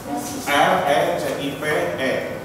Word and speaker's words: recipe: Ya, tulisannya recipe. R-E-C-I-P-E. Tapi bacanya recipe.